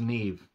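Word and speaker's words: Niamh: did you pronounce this it was n i a m e or H but it was pronounced Neve I don't get it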